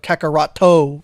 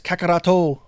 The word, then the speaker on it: Kakarot: of Go, but in actuality, it's because of Kakaroto, because that's how his name is. That's how Goku's name is pronounced in Japan. We call it Kakarot in America, but in Japan it's Kakaroto.